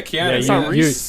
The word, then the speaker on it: Keanu Reeves: Yeah, Keanu Reeves.